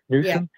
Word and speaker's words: Newsom: the governor of California Newsom Newsom is that how you say his name yes he could win